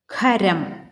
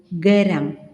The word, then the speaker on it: ഖരം: സുഖം, മുഖം, നഖം, ഖാദി, അഖിലം, ഖരം എന്ന് ശരിയായി ഉച്ചരിക്കുന്നതിന് പകരം നാം സുഖം, മുഖം, നഖം, ഖാദി, അഖിലം, ഖരം എന്നിങ്ങനെ തെറ്റായി ഉച്ചരിക്കുന്നതൊന്ന് ശ്രദ്ധിക്കണേ എന്നാണ് പറയുന്നത്.